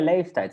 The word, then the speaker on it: leeftijd: So this one we make a bit long. Ja. Leef. And here we put a T at the end. Leeftijd. Leeftijd.